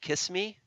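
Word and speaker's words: XX:me: the group is called kiss me it spelled two exes and then the word me but it's pronounced kiss I think they were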